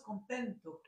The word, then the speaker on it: contentos: Sauf que la différence du français, eux, ils l'écrivent et ils le prononcent.